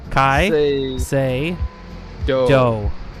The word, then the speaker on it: Caicedo: He does have Tony Caicedo. I'm never going to say his name right once. How do you say it? Correct me again. Say Do.